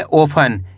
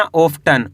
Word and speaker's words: often: OFTEN इसे पढ़ेंगे ओफन, क्या पढ़ेंगे ओफन। दोस्तों यहाँ पे टी साइलेंट है, कैसे पढ़ेंगे ओफन। ऐसे नहीं पढ़ना ऑफ्टन, ओफन, इस तरीके से पढ़ेंगे।